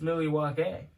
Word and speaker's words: Milwaukee: he's like you like milwaukee or milwaukee and then he goes actually it's pronounced millie wakay it was like it's